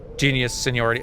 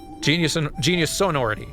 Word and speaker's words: Genius Sonority: Genius Sonority. Okay. It's not Seniority. Genius Sonority.